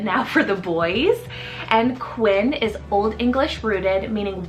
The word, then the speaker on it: Quinn: a boy I've been also loving the name Quinn spell q-u-i-n-n Quinn this is definitely a lot more trendier